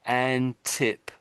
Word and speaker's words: Antipodeans: I think you I can't hear the tip bit. I I I say an but I don't hear tip. Antipodian. Antipodans.